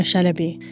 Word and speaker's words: Chalabi: if it's of any interest this is Mona Shinobi Mona is a British Iraqi data journalist and